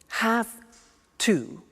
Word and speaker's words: have to: I have to notice I don't say V I say s have half it becomes have to have the two becomes in pronunciation have to have to ok so I have